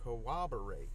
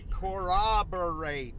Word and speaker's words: corroborate: say that word Co collaborate how do you hang on collaborate okay corroborate that's how you say it corroborate c o